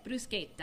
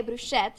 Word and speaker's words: bruschetta: We say it differently, so how do you say it? Bruschetta. And then I say bruschette, so it's a little different, but here it is.